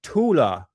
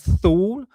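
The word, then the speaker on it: Thule: And it says here Tula Gazelle shaft. Now people pronounce that as thul, but the pron real pronunciation for it in German is tula.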